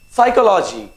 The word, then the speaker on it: psychology: the next word is psychology now in this particular psychology p silent that's it and there's